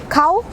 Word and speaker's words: Khao: Burmese noodle soup होता है, मुझे बहुत अच्छा लगता है, KHAO, खाओ, खाओ ही बोलेंगे, ठीक है। देन SUEY, अब लोग इसे सुई भी बोलते हैं और सोए भी बोलते हैं। खाओ सोए, खाओ सो जाओ, या फिर खाओ सुई,